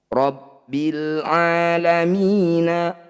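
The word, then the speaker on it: رب العالمين: Fokus cara bacanya, bunyi lam sukun tidak boleh diseret-seret. Rabbil alamina, bukan Rabbil a.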